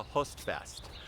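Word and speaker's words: Høstfest: Host is spelled H-O. It's an O with a slash through it. I found out that in Norwegian and Danish languages have this O, which is pronounced kind of like Hostfest.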